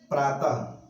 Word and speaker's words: प्रातः: विसर्ग में जैसे विसर्ग का जब भी उच्चारण करते हैं तो उसका जो उच्चारण होता है वो ह को दर्शाता है। जैसे प्रातः, प्रातः, अब इसका उच्चारण कीजिए, देखिए प्रातः ह आ रहा है।